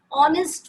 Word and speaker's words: honest: In the next case, honest man. Though it is starting with H, a consonant, but while pronouncing, H is silent.